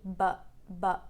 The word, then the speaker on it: but: between butt and um so basically but but is a short quick sound um in the center the tongue is in the center and then you don't move the tongue anywhere to stop the sound you simply well it's not that simple but you use the vocal folds to stop the air like you have to finish very abruptly but but and then